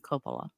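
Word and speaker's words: Coppola: right before he sends the mob after me Copa um Leslie found a room in a house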